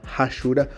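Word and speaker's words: hachura: Muita gente fala rachura ou achura, porque se escreve com H, não tem problema, o jeito que você vai pronunciar.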